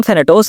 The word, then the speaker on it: थैनाटोस: Fifth Prince का तो ये कहना था, लेकिन थैनोस, हाँ इसका नाम थैनाटोस है लेकिन मैं थैनोस कहूंगा, प्रोनाउंसिएशन में आसानी होती है यार।